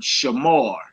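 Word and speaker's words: שמר: So some people say Shamara. And I ain't in the rolling my R's. Now, if y'all want to roll your R's, go ahead. That's what's up. You know what I'm saying? But I just say Shamar. I don't do all the extra R with my tongue and all that crazy.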